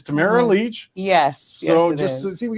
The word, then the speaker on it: Tamara Lich: name so it never occurred to me and pronouncing your last name shouldn't be that complicated but it it gets some people it's Tamara Leach yes so just see we get that out